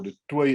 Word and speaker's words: du Toit: But on October 2013, the South African court convicted a former academic, Professor Mike du Toit, or du Toit as we pronounce it here, for treason.